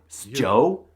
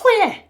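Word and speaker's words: sjö: How do you think you pronounce this word? Give it a try. Sjo, sj, sjo. No, it's hue. Yeah, for some reason, the SJ is a weird wispy H, so this sentence would be pronounced man.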